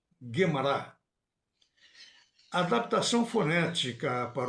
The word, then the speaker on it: Gemara: A pronúncia Kabbalah, com a última sílaba tônica, vem da sua origem hebraica, que também tem o acento tônico na última sílaba. Assim também Mishnah, Gemara.